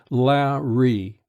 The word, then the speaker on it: Larry: "That's pronounced La-ree."